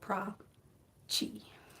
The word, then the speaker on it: Prachi: Oh, and Prachi is my first name, and it is pronounced like Prada and Chihuahua, so Prachi.